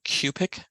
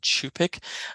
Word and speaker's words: Cup'ik: 2020 that I have I incorrectly use the pronunciation cubic rather than chupic um I was not